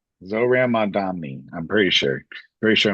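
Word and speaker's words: Zohran Mamdani: But his name is pronounced Zoran Mandami. Zoran Mandami.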